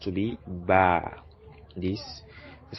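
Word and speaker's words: باء: is pronounced to be ba this is called ba ba as in baby so the b sound baby ba ba baby ba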